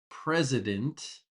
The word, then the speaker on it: president: Donald Trump is the President of the United States. And with the word president, there's a clear Z sound when we pronounce it. President, president.